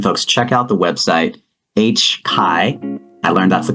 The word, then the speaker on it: HCAI: So again, folks, check out the website, HCAI. I learned that's the correct pronunciation, hcai.ca.gov.